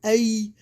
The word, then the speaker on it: Ai: to the west and ae to the east okay i want to say it just like that it's spelled a i i.e there he